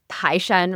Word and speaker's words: Taishan: And in Mandarin, it's Taishan, right? Because Toisan is Yeah. more the Cantonese pronunciation.